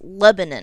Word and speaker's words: Lebanon: z now so kz lebanon as in the country in the middle east or at least it should be they pronounce this with the emphasis on the first syllable so it's lebanon do you remember the